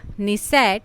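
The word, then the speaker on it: Knesset: Israel की संसद द निसेट, very important. And देखो यहाँ पर के साइलेंट हो जाता है ना, इटली की चैम्बर ऑफ डिप्यूटीज एंड सीनेट।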